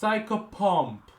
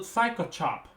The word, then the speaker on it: psychopomp: It's Psychopomp. It's Psychopomp, not Psychochop.